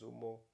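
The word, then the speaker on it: Zuma: the Yamaha you got the zom the zum the Zumo the Zumo or the gu that's how you pronounce Zumo you got the um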